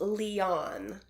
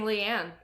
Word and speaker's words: Leon: We've been kind of chatting back and forth with her, and she helped me out so much because her name is pronounced Leon. I was saying Leanne.